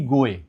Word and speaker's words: goe: देखो, अभी जैसे आप GOE गोए, ये गोए नहीं है, ये गो है।